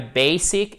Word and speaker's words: basic: I have a basic et pas basic. Basic, basic, OK? Accent tonique sur la première syllabe.